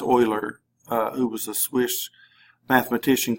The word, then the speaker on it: Euler: and Leonard Euler even though that looks like Euler it's pronounced Euler who was a Swiss mathematician kind of came